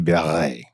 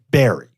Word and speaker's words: Barre: That really, truly in French would be Barré. Now, we're English. Mm-hmm. We're not going to say Barré. That would be very pretentious for this American city to say Wilkes-Barré. Yeah, too sophisticated. But the anglicized version of it is Barry.